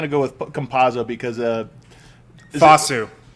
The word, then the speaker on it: Campazzo: I'm only going to go with Campazzo because Fasu. It's Fasu? Fatsu. All right, I like it. Fasu. I thought it was a hard C.